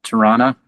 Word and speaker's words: Toronto: I say Toronto instead of Tirana, which is normally how we say it.